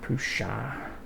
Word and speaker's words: Prusa: Prussa. I don't know. I've heard it pronounced both ways. I like to call it Prussa, not Prusa. But that's just me.